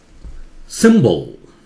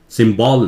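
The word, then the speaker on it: symbol: सिंबल या बी एल के बीच में थोड़ा सा आवाज हो सकती है, नहीं भी हो सकती है, सिंबल नहीं है, सिंबल। सिम जोर से बोलिए, ये जहां जोर से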